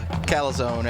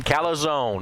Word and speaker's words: calzone: Yeah, he talks me into a calzone every now and then. Calzone, not calzone, calzone. If you don't believe me that's how it's pronounced, just ask old Dave Mills.